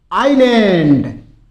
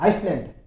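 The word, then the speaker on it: island: फिर देखिए आइलैंड। आइलैंड। इसमें एस साइलेंट रहता है। बहुत से बोल देते हैं आइसलैंड। और वो आइसलैंड नहीं होता है। आइलैंड होता है। एस इसमें साइलेंट रहेगा।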